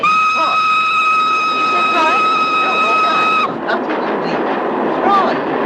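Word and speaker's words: Froy: Roy, it rhymes with joy.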